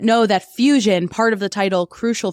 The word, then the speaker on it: FEWSION: just in case you might not know that fusion part of the title crucial Fusion is spelled f-e-w-s-i-o-n as opposed to f-u-s-i-o-n-f-e-w stands for